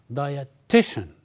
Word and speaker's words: dietitian: three parts diation and the stress is on T so you have dietition so we say diti